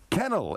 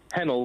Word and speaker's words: Hennel: And I'm going next to Kennel. Is that the right pronunciation? Kennel from Harrow. Hennel with a H. Hennel, right, sorry.